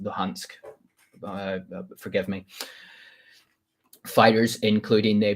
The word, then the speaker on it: Luhansk: be pulled out by the Donetsk and Lugansk. I pronounce it Luhansk.